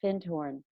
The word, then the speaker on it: Findhorn: And I highly recommend people to look up, it's called FIND as in dog, HORN, one word pronounced Findhorn.